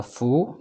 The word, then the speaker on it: 蝠: Because bat in Chinese, we pronounce the fu, 蝙蝠. Happiness is 幸福. So Chinese people use the bat similar to happiness.